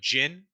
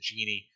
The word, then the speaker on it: jinn: their first boss uh a jinn is how it's correctly pronounced i i called it the genie all of last episode and uh wraith corrected me it is called jin um i'm from new